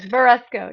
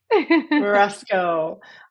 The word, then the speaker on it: Verasco: invited verasco am I saying your name correctly I don't think I've ever actually pronounced your name out loud yes verasco yes verasco uh as you can see